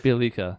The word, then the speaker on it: Bjelica: Bjelica, I believe. Bjelica.